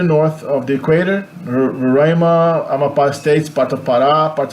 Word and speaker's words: Amapá: If there's an accent mark on the last vowel, it's because it's stressed on the last syllable. So it's not Amapa, it's Amapá. Amapá.